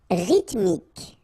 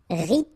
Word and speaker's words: rythmique: Rythmique. Remember, Y pronounced like I and then H doesn't exist. Rythmique.